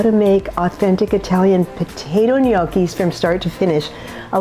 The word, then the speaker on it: gnocchi: Today we're making a potato dumpling called gnocchi, and that is how you say it. There's no other way to say gnocchi than that, and so you'll be making Italians very happy if you say gnocchi.